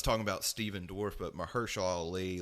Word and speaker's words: Mahershala: Mahershala Ali.